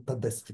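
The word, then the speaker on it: Tedeschi: у нас там композитор, он Тедески, правильное произношение.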